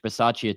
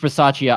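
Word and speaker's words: Bisaccia: up uh from Rich bace today Rich bace uh why did I say it like that rich bachia obviously knew Josh Jacobs better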